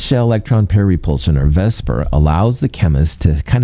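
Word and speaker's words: VSEPR: a lot of syllables let's call it Vesper cuz that's a lot easier to say Vesper Theory two Lew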